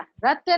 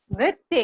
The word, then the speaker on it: नृत्य: यस, ये हम लोग ऐसे आम बोलचाल में बोल देते ना कि हम उसे इतना सुंदर नृत्य किया। नृत्य नहीं, नृत्य किया।